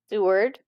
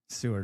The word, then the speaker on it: Seward: Seward. Seward.